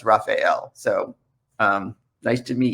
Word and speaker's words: Raphael: pronounce my name and i wasn't sure whether it was raphael or raphael or raphael it turns out it's raphael so um nice to